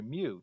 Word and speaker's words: mu: we use the lowercase greek letter mu to indicate population mean or should i say me it's the same for this letter a pronunciation is not quite right but for math problems